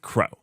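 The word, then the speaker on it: kro: to simplify the developer experience on kubernetes with crow that is how it's pronounced because unlike most projects this actually gives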